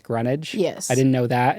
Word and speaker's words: Greenwich: Another one is um like Green Witch is pronounced Greenwich.